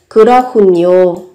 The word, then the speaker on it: 그렇군요: Các bạn có đây, về cách phát âm, các bạn có âm hờ và cờ kết hợp với nhau. Các bạn phát âm thành khờ và n các bạn nối lên thành nhiều. 그렇군요.